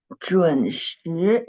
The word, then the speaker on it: 准时: 准时, yes, Muhammad Javid. The tone of the second syllable was wrong. It's not the first tone, it's the second tone.